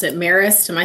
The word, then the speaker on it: Marist: I think that, that game against, I don't even know how to pronounce it, Marist. Am I saying that right? Yeah, Marist.